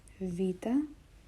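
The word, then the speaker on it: Βήτα: flat then we have Vita Vita makes the sound Vu it's equivalent to the English v v something you might have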